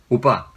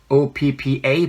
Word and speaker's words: oppa: Your older brother is oppa. Yeah, but there's no other way but to spell it O-P-P-A, but actually PP does not sound like it does in Korean.